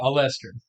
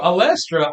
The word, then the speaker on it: Olestra: No, so Olestra, I looked up Allestra, and all I got was birth control and IUDs. Yeah. I guess the way I pronounced Olestra to you.